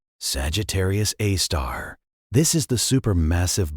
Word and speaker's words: Sagittarius A*: Sagittarius A abbreviated SG A and pronounced Sagittarius A star.